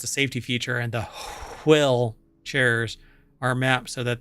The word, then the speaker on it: WHILL: So you have to pronounce it Will.